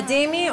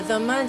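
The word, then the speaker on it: dhimmi: A Dimmi, or a Dhamma, depending on the pronunciation, is a tolerated people.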